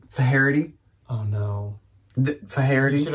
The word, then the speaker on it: Faherty: I believe it's actually pronounced Faherty. And that doesn't make sense to me because there's no letter between the R and the T, but I'm fairly certain multiple of you told me it's like Faherty.